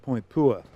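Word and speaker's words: Point Puer: Tower and Powder Magazine the Headland is called po it's spelled p ER which is Latin for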